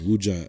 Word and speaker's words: Ouija: And for the real sorcerers, they use what they call Ouija boards. Yes. I think just there's a slight difference in pronunciation in the U.S. They call it Ouija boards in the U.S. Yes. But Ouija, Ouija, that might, because of the way it's spelled.